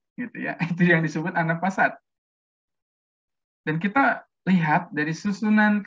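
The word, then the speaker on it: النفاثات: Dari segi pengucapan an-nafasat, cepat ya, tidak ada sekat di situ, tidak ada apa namanya an-nafasat ya, sehingga artinya apa tuh?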